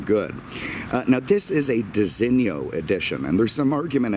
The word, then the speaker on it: designo: I pronounce it Designo. And I believe that is the correct pronunciation. I mean, it's essentially an Italian thing. And, you know, I just don't see the Italian saying Designo.